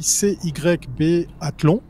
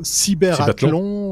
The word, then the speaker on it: Cybathlon: ce prix, puisqu'il s'écrit CYB Athlon. Alors, moi, je serais assez tenté de dire Cybathlon, Cyberathlon, enfin bref, mais ça c'est ou le Cybathlon, voilà.